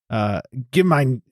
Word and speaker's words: gemein: But Gemein, like the mine has a little bit of an emphasis as like Gemeinschaft.